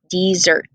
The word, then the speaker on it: Mount Desert: island called mount desert she pronounced it dessert ice cream cookies brownies